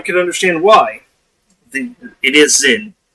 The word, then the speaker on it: Zyn: Or apparently Zin is how you guys pronounce that.